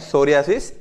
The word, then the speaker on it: psoriasis: सूर्याशीष क्या होता है सूर्य से पी यहां पर साइलेंट रहता है ठीक है सोरायसिस पढ़ा जाता है इसको तो डबल अजी